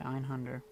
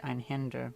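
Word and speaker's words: Einhänder: see if we can try Einhunder. Or, sorry, actually probably Einhinder, because there's an umlaut over it.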